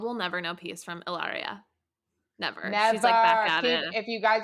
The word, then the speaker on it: Hilaria: catch her at hilario ellaria baldwin h is silent okay and um amanda